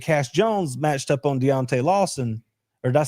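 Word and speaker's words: Deontae Lawson: If they could get Cash Jones matched up on Deontay Lawson or did I say that right?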